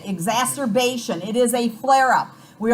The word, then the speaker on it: exacerbation: about corticosteroids correct okay exacerbation that's how you say it exacerbation it is a flare-up